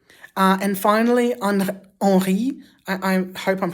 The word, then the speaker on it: Henri: And finally, Henri, I hope I'm pronouncing it right. I think the N is nasalized. So Henri, and it's spelt exactly like Henry, but with an I instead of a Y.